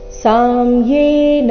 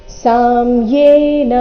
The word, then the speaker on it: ಸಾಮ್ಯೇನ: ಯೋಗಸ್ತ್ವಯ ಪ್ರೋಕ್ತಸ್ ಸಾಮ್ಯೇನ ಮಧುಸೂದನ ಇಲ್ಲಿ ಸ ನಂತರ ಮ ಕ್ಕೆ ಮ ದ ಒತ್ತಿಲ್ಲ ಸಾಮ್ಯೆ ಅಂತ ಇಲ್ಲ ಏನಿದೆ ಸ ನಂತರ ಮ ಅಧಿಕ ಯೇ ಸೇರಿ ಸಂಯುಕ್ತಕ್ಷರ ಸಾಮ್ಯೇನ ಮಧುಸೂದನ ಏತಸ್ಯಹ ಪಶ್ಯಾಮಿ ಏತಸ್ಯಹನ್ ತ